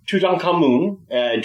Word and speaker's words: Tutankhamun: full name is king tutankhamen or tutankhamun to pronounce it a bit more accurately uh he was the